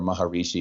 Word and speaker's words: Maharishi: Not early, but mid-early after they went to Rishikesh and had their awakening and spent time with Maharshi yeah, or Maharishi, as some people pronounce it.